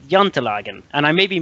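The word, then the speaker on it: Jantelagen: you were close yeah you were close uh it's it's yant Logan so um very very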